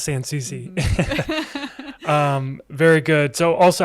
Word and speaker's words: Sansouci: person at a time will learn how to pronounce sans susie um very good so also i just want